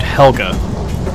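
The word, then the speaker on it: Helguh: to be a traitor in another dimension named Helga it's spelled h-e-l-g-u-h that comes into play later so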